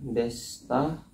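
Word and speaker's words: でした: Desita dibaca desta masita dibaca masta.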